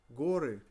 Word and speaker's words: горы: Гора, горы. Горы. The change between a and o here comes from the change in the emphasis, because here emphasis falls on o.